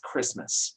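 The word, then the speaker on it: Kiritimati: Uh just to spoil everything Jessica was going to say, it's usually pronounced Christmas um in the uh in the Gilbert language uh that that those uh consonants are pronounced in that way.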